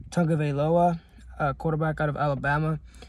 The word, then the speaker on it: Tagovailoa: Tagovailoa, quarterback out of Alabama.